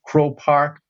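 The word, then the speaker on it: Croke Park: I think it's over 82,500 people could fit into Crow Park. So it's spelled Croke.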